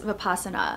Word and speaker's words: Vipassana: got back from attending my very first 10-day Vipassana silent meditation course, so I wanted to film a video to share my experience. First of all, what is Vipassana? Vipassana, or sometimes you'll hear it pronounced Vipassana, is a meditation technique that focuses